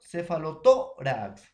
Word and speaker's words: cefalotórax: Cefalotórax es grave, profesor, o llana. Tiene la mayor fuerza de voz en la penúltima sílaba.